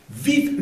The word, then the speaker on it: vive: ver cómo se pronuncia vive le vent primera observación es la V en francés hacemos diferencia entre V y B V dentilvial que se pronuncia V de viento en fron Il a b larg boule de neige.